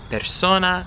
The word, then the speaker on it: persona: Properly in Italian, you say the word persona like this, with the, you really hear the S. Persona. Kind of similar to the English S.